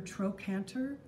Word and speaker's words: trochanter: The larger one is called the greater trochanter. It's spelled T-R-O-C-H-A-N-T-E-R, trochanter.